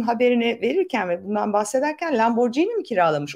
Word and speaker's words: Lamborghini: de Lamborghini bu vesileyle doğrusunu yazalım Lamborghini imiş arkadaşlar araba otomobil Lamborghini okunuyormuş G ile Aynen aynen öyle bak